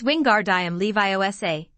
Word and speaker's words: Wingardium Leviosa: having much more luck wingardium leviosa he shouted waving his long arms like a windmill you're saying it wrong harry heard hermione snap it's wingardium leviosa make the gar nice and long you do it then